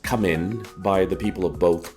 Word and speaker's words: Khmer: And in Cambodian the letter R is pronounced with an N sound at the end of most words. So Camair is actually pronounced Camin by the people of both countries.